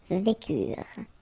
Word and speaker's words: vécurent: Ils vécurent, so remember, mark for the plural, and T is not pronounced phonetically, you don't get it, so vécurent, okay?